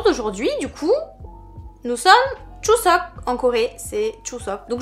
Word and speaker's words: Chuseok: Alors déjà je vous écris juste ici la version française, enfin en tout cas romanisée, et la version coréenne, donc ça se prononce bien Chuseok.